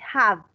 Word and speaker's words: have: Recuerden que la B se pronuncia have, que el labio, los dientes alcancen a tocar, a morder el labio inferior, ¿sí?